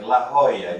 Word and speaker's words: La Jolla: like La Jolla, you have to say in Spanish, but nobody says Los Angeles.